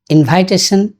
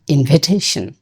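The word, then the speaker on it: invitation: আমি দুটো ভুল প্রায়ই করি, যেমন ইনভাইটেশন এবং ড্রাইভেন। এখন আমি জানি ইনভাইটেশনের উচ্চারণ ইনভিটেশন এবং ড্রাইভেন এর উচ্চারণ ড্রিভন, এটা জানি, তা সত্ত্বেও ভুল হয়।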